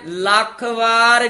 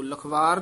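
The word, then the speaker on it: ਲਖ ਵਾਰ: जिस प्रभ अपना विसरै सो मर जम्मै लख वार जीओ। इसे तरह उच्चारण करना है, जिस प्रभ अपना विसरै इति विश्राम सो मर जम्मै इति चमक लख वार जीओ। लखवार नहीं कहना, लख वार जीओ।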